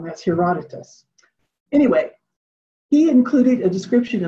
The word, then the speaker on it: Herodotus: traveler who visited egypt about 450 bc uh pronounced in it wrong that's herodotus anyway he included a description of the great